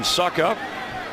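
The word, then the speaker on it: Succop: Ryan Suckup, that's the way you pronounce it for the extra point.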